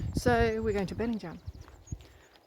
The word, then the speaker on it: Bellingham: And today's aim is, well, it's written Bellingham, but actually apparently they pronounce it Bellingham. Bellingham. So we're going to Bellingham.